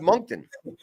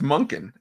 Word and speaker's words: Monken: Where's the T? Let me look at a picture of Todd, man. Hold on. Todd. How you spell it? Monk. There's no T. Why is there no T? It's Monken. Monken.